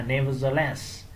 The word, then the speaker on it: nevertheless: Cái này trọng âm vào số 3, nevertheless.